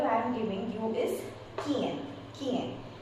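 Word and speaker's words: quien: The second example I am giving you is Kien. Kien. K sound is coming. Appear with U and followed by I or E.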